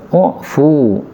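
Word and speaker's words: اُعْفُ: Falamma kana fi tsalitsah, lalu tatkala sudah yang ketiga, qala, beliau menjawab, u'fu, ini bacanya pakai dhammah ya, u'fu, maafkanlah, anhu, dari pelayan, fi kulli yaumin, setiap harinya, 70 marrah, 70 kali.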